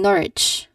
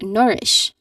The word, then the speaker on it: nourish: So the common mistake here is saying norage. Norwich. Norwich. That is how you pron that is not how you pronounce this word. This is basically this is basically just nourish.